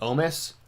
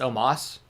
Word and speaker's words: Omos: Or Omos, I think is how you pronounce it now. I think they've changed the way they pronounce his name. Am I wrong about that, or am I just making that? I could have sworn they were calling him Omos, and now it's Omos, I think.